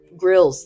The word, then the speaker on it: Grylls: like a bear grylls is that how you say his name grill it's grills it's it's useful like